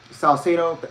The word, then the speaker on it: Salcedo: that interviews other wrestlers denise salcedo that's how you pronounce it uh was announced as